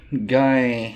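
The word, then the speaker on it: Geye: Yeah, his name is, it says here in this article, Guy Hamby. It's spelled G-E-Y-E, and they put in front of it, he's pronounced alternatively as Guy or racist anal douche.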